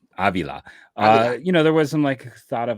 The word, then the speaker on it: Avila: Yeah, I also think, again, for me, when we were sitting there, when they added Pedro Avila, no, I said it wrong. Avila.